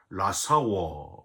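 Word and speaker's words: לַשָּׁוְא: 망령되게라는 단어는요, 히브리어로 라사워 이렇게 발음을 하는데요.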